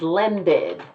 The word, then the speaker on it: landed: So the past tense is landed. You can pronounce the entire syllable. Landed.